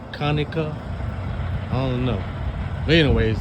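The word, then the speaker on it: Conecuh: I'm in uh Kaneka, Alabama. C O N E C U H Alabama. I guess that's pronounced Kaneka.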